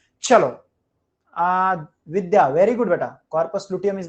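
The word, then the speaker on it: corpus luteum: कार्पस लुटियम नहीं होता है, कॉर्पस लुटियम होता है बेटा, कॉर्पस लुटियम, कॉर्पस लुटियम, कॉर्पस लुटियम, कॉर्पस लुटियम ऐसे डालो.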